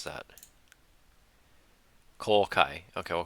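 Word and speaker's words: 公開: And it's, how do you pronounce that? Kokai.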